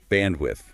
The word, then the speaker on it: bandwidth: To get that sound, you have to put the tip of your tongue slightly between your teeth and blow lightly. Bandwidth.